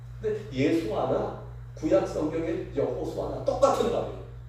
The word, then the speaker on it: 예수아: 우리는 그냥 예수라고 우리 성경에는 번역되었는데 정확한 발음은 예수아입니다. 근데 예수아나 구약 성경의 여호수아나 똑같은 말이에요.